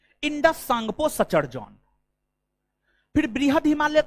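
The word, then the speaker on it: Tsangpo: trans Himalaya को बहद हिमालय से अलग आईटीएस जेड आईटीएस Z full form होता है Indus सांगपो Sachar John T silent है टी साइलेंट है इंडस सांगपो सचर जॉन फिर बहद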